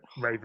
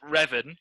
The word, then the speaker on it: Revan: play raven then yeah raven will be my favorite pronounced revan uh but oh okay